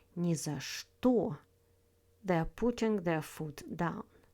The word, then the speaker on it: ни за что: First up, «ни за что», pronounced «ни за что» with the stress on «что».